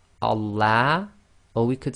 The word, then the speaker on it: Allah: You can't say Allah. Okay, so be very careful. It's Allah. And that's the effect of having the sound of Fatha before the Lam of Allah.